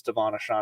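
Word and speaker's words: De'Von Achane: you say his name I believe it's Devon aan I've been saying it wrong all year uh between his ankle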